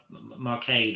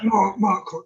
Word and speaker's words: Marquand: It was Ralph Marcade or how to pronounce that. What was his? I'm trying to think. Oh, so Richard Marquand, I think that's how you pronounce it. Marquand, yes, that's right.